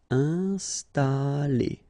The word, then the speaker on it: installer: Installer. First the nasal, I-N, un, installer. Installer.